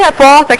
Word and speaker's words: repórter: Sílaba tônica de repórter, que dá mais uma puxadinha. O pó.